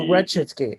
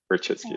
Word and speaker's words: Rachitsky: Oh, Rechitsky. Okay. Rachitsky. Yeah, I might have been mispronouncing it.